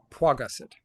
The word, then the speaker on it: Paget: out pet pet which where's the W first or second syllable first Paget got it okay who